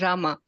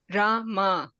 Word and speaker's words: Rama: and and Rama but every name has got two syllables in it har Krishna raama right so when you're chanting totally there should be 32 syllables in the whole chanting versus Ram that is one syllable so the right way to chant is Rama Rama okay j h h